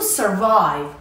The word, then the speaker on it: survive: And the sixth word is to survive. Survive has two syllables and the stress is on the second syllable.